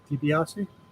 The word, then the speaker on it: DiBiase: DiBiase?